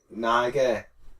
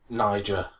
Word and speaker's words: Niger: They were staying there ahead of tomorrow's Cup of Nations qualified against the match against neighboring Niger. Niger. Niger. Okay. Which was still I'm only I'm only I'm only pronouncing it so you know how to say it and you don't get it wrong.